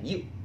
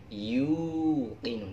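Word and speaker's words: يوقنون: Tahu ya nenun sarung atau nenun kayak yuk nenun, yuk kinun, tapi jangan yuk, tapi yuqinun, dipanjangkan wawunya ya, yuqinun.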